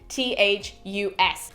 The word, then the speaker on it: Cloanthus: That was not a very confident pronunciation, but it's Cloanthus.